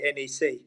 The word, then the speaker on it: NEC: saying to you, James, I'm not going to use the correct Dutch pronunciation like you do. I'm just going to take it easy and say NEC.